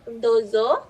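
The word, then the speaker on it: どうぞ: lagi Pak Nanasang untuk dozo. Ini OU itu di bahasa Jepang biasanya seperti O saja yang panjang, seperti itu ya.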